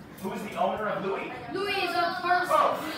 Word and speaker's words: Louis: This one doesn't look like how it's spelled. Louis. L-E-O-W-Y. L-E-O-W-Y. Love. Ooh, the ooh is the UW or just the U, depends on your book. Louie.